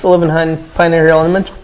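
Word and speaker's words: Olivenhain: and it's Livenhain Pioneer Hill Elementary. Livenhain?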